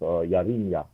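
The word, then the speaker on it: ירמיה: Nehemiah or Nehemiah, Jeremiah, but there was no J in Hebrew, so that, it's pronounced Yarimya.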